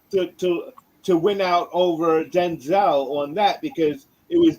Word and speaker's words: Denzel: uh news blurb and we have been pronouncing denzel's name wrong the entire time it's denzel he said it himself yeah there was a